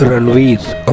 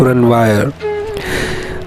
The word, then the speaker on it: Ranvier: जाता है nodes of रनवीर। Okay, nodes of रनवायर। तो रनवीर या रनवायर दोनों कह सकते हैं, मगर याद रखने के लिए रनवीर इजी रहेगा। उसका स्पेलिंग रहेगा RANVIER।